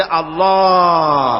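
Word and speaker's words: الله: পাকের নাম উচ্চারণ হচ্ছে আল্লাহ আল্লাহ মুখটা একটু গোল হয়ে যাবে বলেন আল্লাহ আল্লাহ পৃথিবীতে বিভিন্ন জাতি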